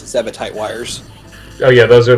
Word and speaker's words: Zebetite: Yeah, that's how you pronounce it. Zebetite wires.